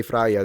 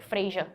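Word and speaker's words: Freyja: Although the j we would mute. We don't say it. Cuz if we did we'd be like Freya. Yeah, I mean same. I think it's also like Freya.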